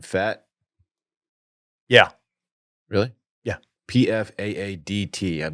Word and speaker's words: Pfaadt: So the Diamondbacks are starting Is it Fat? Brandon. Gray is 4th. How do you say that last name? Fat?